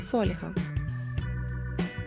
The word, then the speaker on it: фольга: правильна відповідь підлітковий фольга чи фольга правильний варіант фольга новий чи новий